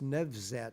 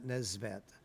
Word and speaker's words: Nevzat: I was just reminded that it's Nevzat, not Neesvat. I often say it wrong, although I know him well.